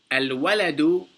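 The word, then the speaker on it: الولد: And you notice on this one we pronounced the lam. On all the other ones, we didn't pronounce the lam because these were sun letters. However, al-waladu, the waw, is a moon letter, and we pronounce the lam, and there's no shadda over it.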